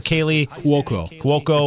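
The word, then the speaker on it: Kaley Cuoco: Kaylee Cuoco.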